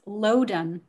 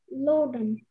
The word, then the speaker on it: loden: Contestant, your word is loden.